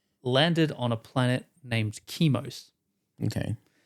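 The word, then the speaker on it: Chemos: Fulgrim landed on a planet named Kimos. Okay. C H E M O S. Just so you know how it's spelled.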